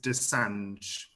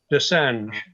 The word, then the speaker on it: Desange: Yeah, the pronunciation is Desange. Desange, yeah. Like Julian Assange, but I prefer not to be associated with that now.